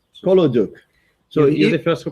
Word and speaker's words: Kolodyuk: Kolodyuk? That's right. Kolodyuk. So you're the first who pronounced this correctly for the last 5 days, it seems.